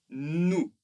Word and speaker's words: nous: Le pluriel, la première personne du pluriel, nous. Alors, attention, bien sûr, nous ne prononçons pas le S.